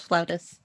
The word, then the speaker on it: flautist: Yes, flautist.